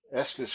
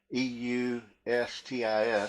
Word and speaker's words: Eustis: He's on there, and he's out of Estes, Florida. I believe that's how you say it. Eustis, Florida.